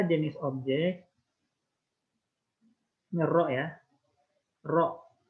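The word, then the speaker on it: ρ: Nah, kan kita tahu tadi, ya, P submerged per V objek itu sebanding dengan massa jenis objek, ini rho ya, rho bacanya, per massa jenis fluidanya, ini air, water.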